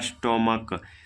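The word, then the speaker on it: stomach: सिर्फ एस जुड़ेगा क्यों क्योंकि इसको पढ़ते हैं स्टमक लास्ट में अगर सीच का उच्चारण को हो तो इसमें एस जोड़ते हैं ठीक है इसी प्रकार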